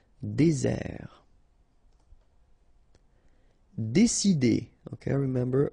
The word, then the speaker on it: désert: Désert. Okay, remember, final T not pronounced. Désert. And really this z sound just because you get one S between the two vowels. Okay, z. Désert.